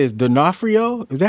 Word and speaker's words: D'Onofrio: Uh Well, how do you say his D'Onofrio? Is that how you say his name? D'Onofrio. D'Onofrio.